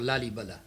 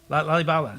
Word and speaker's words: Lalibela: It's called Lalibela. Lalibala. Lalibela, yeah. Excuse me. Alibaba. Yeah, Okay. Lalibela, yeah.